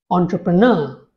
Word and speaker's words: entrepreneur: called a syllable so there are four syllables in this word and the stress falls on the last syllable on contr apreneur please speak this after me entrepreneur I hope this helps